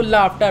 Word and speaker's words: laughter: लाफ्टर, LAUGHTER, इसको लाफ्टर पढ़ते हैं। ठीक है, F का उच्चारण भी यहाँ करते हैं जबकि होता नहीं है।